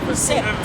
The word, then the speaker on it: sept: Sept. Yeah, sept in French. That's how you say it. Sept. In French, it's sept.